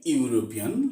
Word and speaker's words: European: Here, the pronunciation of vowel becomes just like consonant, U, Y, U.